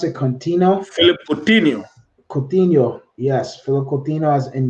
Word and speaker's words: Coutinho: How do you pronounce it? Contino. Philip Coutinho, Coutinho.